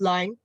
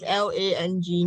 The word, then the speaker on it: Lang: attention to the first line? Why? What happened? Okay, can I continue because it's too My name is spelled as Lang, not Li.